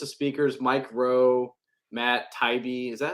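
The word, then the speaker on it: Taibbi: at a list of speakers Mike Rowe Matt Tybee is that how you say his name taibi yeah it's got a little EB in there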